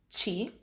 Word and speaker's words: ci: want to remind you we call this letter chi when doing the spelling of a word this letter has three